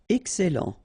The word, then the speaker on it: excellent: Okay, final X not pronounced, and then ennuyeux, ennuyeux. Facile. Excellent. Okay, you've got double L here, and then it will open the sound of your here, and it will be e. Excellent, excellent.